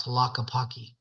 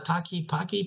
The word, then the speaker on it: Tlaquepaque: Because when I first got there, it's hard to pronounce because when you see it spelled out, Tlaquepaque, yeah. people go, "Yeah, you're at that Taki Paki place," So, but people resonate with it because it's called Yeah.